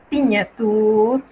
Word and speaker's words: signature: En una palabra donde usted vea G y N, usted debe pronunciar el sonido de la ñ, como en ligne, signature, signe, que literalmente significa línea, firma o firme.